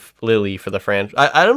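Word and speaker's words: Lili: what did they announce Lily and then they do or lily sorry I keep on saying Lily just because it's spelled l-i-l-i and I'm like that is Lily um but what if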